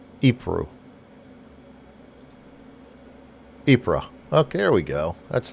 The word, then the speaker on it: Ypres: I'm gonna before I butcher it, I'm gonna look up the pronunciation. Ypres.